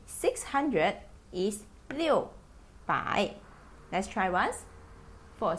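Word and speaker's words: 六: we proceed to six four six six is pronounced as Leo still four seven seven is pronounced as Shi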